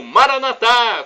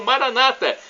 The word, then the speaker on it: Maranatá: E do aramaico, dialeto de Jesus, eu clamo Maranatá, como dizemos nós católicos, ou Maranata, como dizem os nossos irmãos separados, evangélicos ou protestantes. Não importa a pronúncia, Maranata ou Maranatá, o resultado é o mesmo, o significado é o mesmo.